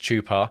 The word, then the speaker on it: Chupa: Chopper chops was correct the brand is Spanish and it comes from the word Chupa pronounced Chupa which means to suck the more you know